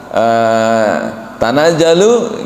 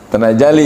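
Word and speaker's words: تَنَزَّلُ: Sering kita mendengar Pak Haji Yurman sering mengingatkan kan, imam kita ada yang harusnya baca tanajalu gitu kan, dia dibacanya tanajali ya.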